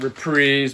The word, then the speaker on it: Reprise: The people that are correct call it Reprise, but it's spelt like Reprise as far as I'm concerned.